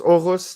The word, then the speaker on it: Aarhus: Going out there for there's a place called is it Aarhus? Aarhus. That's how you pronounce it in Danish.